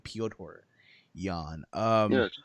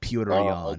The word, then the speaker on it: Piotr Jan: I have to say, I now know how to pronounce his name, Piotr Jan. You just say Peter, but you just I was saying Peter the whole time, but Piotr Jan.